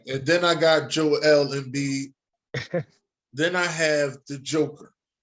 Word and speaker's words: Embiid: Joel Embiid. Joel Embiid, number 1. Oh, I don't be like Dennis. Embiid.